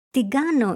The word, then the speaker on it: την κάνω: And because we talk fast, the letters ni and kappa are pronounced together so it sounds τι κάνω and not την κάνω.